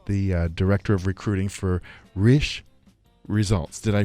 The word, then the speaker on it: Risch: Joining me now, Jolene Risch, the founder, and Nadine, Jett, the director of recruiting for Risch Results. Did I pronounce that right?